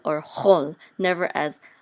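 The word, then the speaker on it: כל: In ancient Hebrew, this kamatz right here would be sounded as a o, like a o sound, short o.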